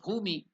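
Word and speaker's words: bhūmi: If you add it to the Mahaprana, Bhu, Bha, it becomes Bhu. So Bhumi is the word there.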